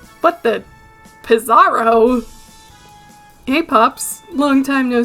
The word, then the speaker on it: Pizzaro: right to name you pizarro it's just a combination of pizza and bizarro so i had been saying it right this whole time get out of my